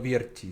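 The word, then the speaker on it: Vierci: de las Nieves de Pablo Pablo Vierchi se llama, Viersi se escribe.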